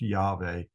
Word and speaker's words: Yahweh: I think it is accurately pronounced Yahweh.